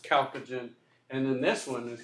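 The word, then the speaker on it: chalcogen: of a weird word it starts with a CH but it's pronounced calogen and then this one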